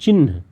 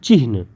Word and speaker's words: चिह्न: जिसे संकेत कहते हैं, इसका उच्चारण क्या करते हैं? चिन्ह, ची आधा न ह, चिन्ह, लेकिन ये गलत है, पूरी तरह से गलत है। इसका होता है चिन्ह, यानी ची आधा ह फिर पूरा न, यानी बीच में जो